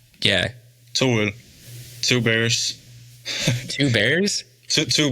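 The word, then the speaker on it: To Øl: Which I got to represent the Tuol. How do you say it? It's Tuol? Tuol. Yeah. Tool.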